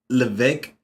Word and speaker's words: Levesque: It's pronounced Levesque.